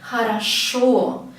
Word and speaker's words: хорошо: You see, in writing there are 3 O's, but you can hear only one. It is all because of the stress. The stress here goes to the last syllable, хорошо. It goes to the last O, the last vowel. And this O, it will be pronounced as O because it has stress on it. The other 2, they don't have the stress, so they will be pronounced as A.